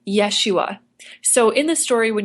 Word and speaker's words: Yeshua: to mention too that Aaron always pronounced Jesus's name the Hebrew way Yeshua so in the story